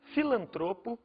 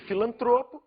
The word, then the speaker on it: filantropo: de amar o programa em vez de filantropo filantro em vez de rubrica